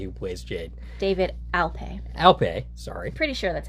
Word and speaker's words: Alpay: Alpay, sorry. Pretty sure that's how it's pronounced.